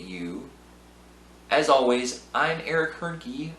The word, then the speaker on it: Hoernke: As always, I'm Eric Hoernke, rhymes with turnkey, and this has been a production of Zero Value.